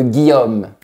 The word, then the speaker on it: Guillaume: Il n'y a pas d'accent sur le E de Guillaume. Donc, on ne le prononce pas.